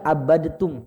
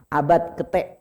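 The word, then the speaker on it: عَبَدتُّمْ: Jangan baca abadtum, Pak ya. Abad kete, langsung kete. Ini soalnya jatuhnya idgham mutajanisain. Ya, terlepas dari itu, ya kalau dibahas teorinya terlalu ribet. Intinya di sini bacanya abad kete, Pak. Jangan baca abadatum.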